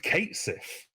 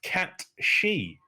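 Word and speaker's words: Cait Sith: It's not pronounced Kate Sith. It's pronounced Cat She. It's like an Irish Gaelic term, and like someone told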